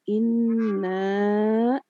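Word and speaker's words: إنا: Untuk ayat pertama, inna, ya, bunda-bunda semuanya. Di situ ada gunnah, ya, kemudian ada mad, ya. Jadi kalau di situ ada pedang, jadi harus dibacanya panjang.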